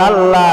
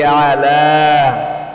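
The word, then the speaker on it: على: আলা বলেন আল্লাহুম্মা সাল্লি আলা মুহাম্মাদিন হাততাবে আল্লাহুম্মা সাল্লি আলা মুহাম্মাদি আল্লাহুম্মা বলেন আল্লাহুম্মা সাল্লি আলা অনেকে বলে আলা আলা বললে হবে না আইন মধ্যে চাপ দিতে হবে এরকম হবে আটা হামজার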